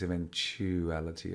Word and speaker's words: eventualities: ok cover every eventuality so this eventualities as quite interesting pronunciation it's not even quality it's eventualities okay eventualities okay so